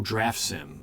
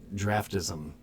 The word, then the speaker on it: Draftsim: Am I saying it wrong? Oh, draftsim. I always said draft draftism. Draftism. Bozo.